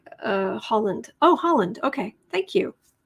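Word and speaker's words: Haaland: help improve reservations harrison her last name is pronounced like the country uh holland oh holland okay thank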